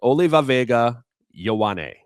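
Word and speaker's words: Olaivavega Ioane: But no, the pick that has to happen for the Chargers there, it's Olivavega Ioane is how you pronounce this man's name, and he is easily the best offensive guard in this draft.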